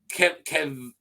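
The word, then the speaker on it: Kevan: Kavan, I pronounced it 3 different ways in a row. Kevun, there you go, now 4th, eventually married Dorna.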